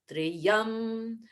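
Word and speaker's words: त्र्यम्बकम्: pointed out that it's important not to make that two different syllables it should be only one but if we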